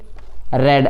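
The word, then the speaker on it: read: book ये याद रखना ये स्पेलिंग सेम होती है इसका प्रोनंसिएशन अलग होता है ये प्रेजेंट यदि होती है तो रीड होता है सेकंड और थर्ड में आपका ये रेड बोला जाता है लास्ट देखिए सरला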